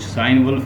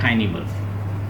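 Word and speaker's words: Cynewulf: बाद, खाइनी वुल्फ, CYNE, इसको कुछ साइन वुल्फ भी कहते हैं, बहरहाल इसकी प्रोनाउंसिएशन मैंने चेक की है, खाइनी वुल्फ, ठीक है।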